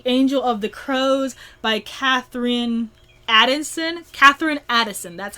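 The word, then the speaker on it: Katherine Addison: that is The Angel of the Crows by Catherine Addison, that's how you pronounce her name.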